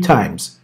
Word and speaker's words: times: Buraya şu s'yi unutma times'teki. Yani s'yi unutma. Şöyle three times. Okay. Z diye okunuyor burası. Three times.